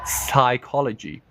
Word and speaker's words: psychology: loud maybe less good yes the p is silent I always used to say the P every sing single time until somebody told me it's a silent PE psychology psychology psychology psychology is